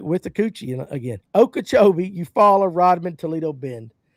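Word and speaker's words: Okeechobee: Okachibi.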